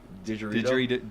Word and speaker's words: didgeridoo: People don't necessarily know how to pronounce it, so it's didgeridoo.